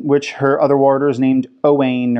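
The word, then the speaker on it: Owein: her other waters named Oh Wayne or Owen which is spelt with an eye at first we were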